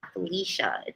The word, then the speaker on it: Felicia: thank you Felicia yeah because people say Alicia people say Felicia but it's Felicia yeah I was gonna I would say Felicia I have a cousin spelled the same way her name's Felicia so I say sia instead of sha I do this yeah